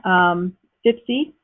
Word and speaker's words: FVPSA: FIPSI, which is a very strange way of pronouncing FVPSA, FIPSI.